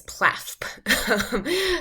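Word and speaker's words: PLAAFP: a bit uh but we may pronounce it as plasp i'm just going to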